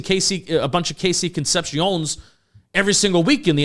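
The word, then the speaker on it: Concepcion: I I watched um Casey, how do you say Conception? Yeah, Conception.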